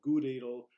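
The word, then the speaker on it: Gutedel: variety here is called gooo needle rhymes with food ladle it's also known as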